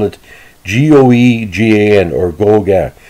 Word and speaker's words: Goegan: spelled it g-o-e-g-a-n or go gang that's how acadians pronounce it if i'm pronouncing it